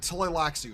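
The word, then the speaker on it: Tleilaxu: Tlaxu, that's how you pronounce it.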